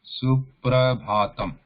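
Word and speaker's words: सुप्रभातम्: Suprabhatam. This is pra, right? Supra. Suprabhatam.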